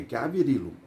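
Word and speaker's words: Gavrilo: Deixa eu só ver se tô falando a palavra ser desse homem aqui. É Gavirilo. É Gavirilo. Isso. Gav é pronúncia russa, tá certo.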